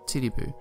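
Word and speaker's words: Titiboo: band called DC MC who play at club titty boo yes that's how it's pronounced for the factory workers it's said that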